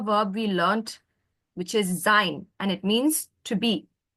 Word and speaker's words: sein: So what is the pronunciation for this? A. A and the letter, what's I in German? E. E. And this combination, I just said sein. So what's the sound? A. Sein.